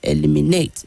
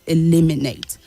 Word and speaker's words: eliminate: so in that word the stress is not the way that you would say it as an eliminate is wrong the correct way to say it is eliminate challenge the stress is